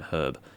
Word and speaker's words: herb: It's kind of like how they can't pronounce the H in herb.